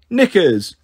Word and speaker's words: knickers: the first word is knickers they all giggled no giggling now write down knickers come on come along neither Baxter nor Bliss knew about the weirdly silent k in nickers but they did their